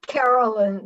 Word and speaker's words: Caroline: um carolyn is it carolyn or caroline it's caroline the e is silent but it's there she she said directness